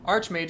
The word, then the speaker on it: Archmage: Archangel is Archangel. Archmage is Archmage, even though it's the same ARCH thing.